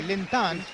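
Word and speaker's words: 林丹: ये शुरू हुआ मैच लिंडेन ने पहली सर्विस की है। सुपर डेन के नाम से प्रसिद्ध लिन इस समय उनका जो चीनी नाम का उच्चारण है वो है लिनता लेकिन उन्हें सुपर डेन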